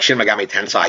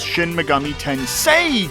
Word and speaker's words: Shin Megami Tensei: has its audience you know you have like shimagami Tensai you have Persona you have like these other